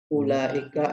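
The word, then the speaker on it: أولئك: metode ikra itu wawnya ada tapi dianggap tidak ada dari segi bacaan. Ada tapi tiada.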